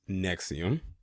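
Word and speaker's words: NXIVM: started under another name in 1998 in his pronounced nexium was based in Albany New York in at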